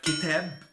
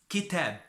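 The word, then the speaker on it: كتاب: If we have 2 words, we have, for example, like kitab, book, kitab. But if we want to pronounce the Kaaf, it is qalb, heart.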